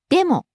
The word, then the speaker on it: でも: それから、 Next, でも、 but, でも、でも、 starts high, falls on mo, the second syllable.